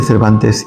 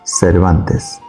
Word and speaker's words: Cervantes: Saavedra su propio apellido el dialecto andaluz en su variante cordobesa se caracteriza por la utilización del ceseo es decir pronunciar la s la z y la c como una s Cómo pronunciaría una persona con marcado acento cordobés su apellido Cervantes lo haría como Cervantes Dado que los escribanos